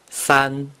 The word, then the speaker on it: 三: The number three in Mandarin Chinese is pronounced san.